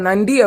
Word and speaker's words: நன்றி: அப்புறம் நன்றி அப்படின்னு சொல்லும்போது கரெக்டா பல்லுக்கு பின்னாடி ஒரு பம்ப் மாதிரி இருக்கும். அந்த இடத்தைதான் தொட்டு நம்ம நன்றி அப்படின்னு சொல்லுவோம். அதுதான் அதோட கரெக்டான உச்சரிப்பு.